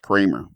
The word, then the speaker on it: Kremer: named Kramer, but his last name is spelled Kremer, but he claims that it's pronounced Kramer. Okay. So that's going to be our first question. How does Kremer become Kramer? Because it's German.